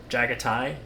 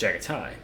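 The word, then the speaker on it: Jaghatai: Jagatai, not Jag because that's Jagati. Would it not be pronounced that? Jagaticon, but it's Jagatai.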